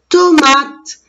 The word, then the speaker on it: tomate: T-O, M-A, T-E, tomate. Et encore, dans le mot tomate, il y a la lettre E que je ne la prononce pas. Elle est muette.